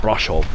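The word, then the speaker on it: Brașov: So, we're coming down now into the main square of Russov. Um, the locals put a bit more of a twang on. It's like brushov or something like that. That how they say it.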